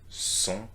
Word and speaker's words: sont: Ils, elles, sont. It's a nasal vowel that you need to do. Sont. Sont. Ils sont. Elles sont. And please note that we are not pronouncing the T here, okay?